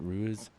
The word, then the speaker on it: Ruiz: it's R UI Z I'm not sure how to pronounce it Ruiz Reese Rees okay is that is that like Spanish or something what what is that yeah yeah Ruiz Ruiz that's how you say good Ruiz all right